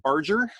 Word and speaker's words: Barger: is fundraiser Barger cfre I go by fundraiser on all the social networks feel free to connect with me there again that name was Barger it rhymes with charger it's helpful for people